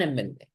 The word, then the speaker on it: MLA: Starts with the letter M, but what is the first sound you are saying when you're saying MLA? Ah. It's an open sound. An MLA.